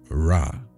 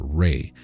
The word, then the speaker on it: Ra: or the sun god Rah or Reay some people pronounce it Ray the second one in